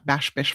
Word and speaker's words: Bash Bish: So, the best time to visit Bash Bish is late fall, winter, or early spring. Did I say it right? Bash Bish? Yeah, Bash Bish Falls.